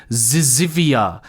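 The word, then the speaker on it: zyzzyva: in your answer I'm going to do my best job at pronouncing this the answer is zivia it's spelled Zed y z z y v a I don't know if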